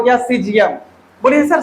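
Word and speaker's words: caesium: इसका मतलब हो गया सीजियम। बोलिए सर से तो ऐसे ही लिख देते हैं क्या? यहाँ पे जो सी है ना, सी ये आपका साइलेंट है।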